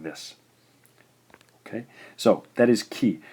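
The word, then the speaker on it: き: This gives us in English Ki, Ki.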